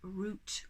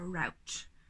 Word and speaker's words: route: that we are following a root or a route whatever way you want to pronounce it i have made a